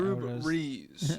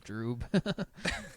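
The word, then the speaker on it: Jrue: Droo. What I was thinking, what kind of name is Droo?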